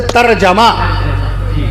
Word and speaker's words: ترجمہ: صحیح تلفظ ہے ترجمہ.